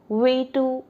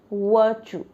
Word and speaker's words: virtue: So don't follow the spelling. The real and exact pronunciation is virtue, by virtue of.